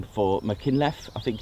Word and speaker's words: Machynlleth: unlike the Mach Loop, it's there we go, Machynlleth, hence Mach Loop.